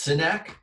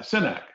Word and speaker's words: Synack: this company right here so it's sénèque yeah cynic city see I don't know that